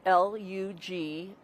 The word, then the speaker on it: Lagundi: Lagundi is Lugundi.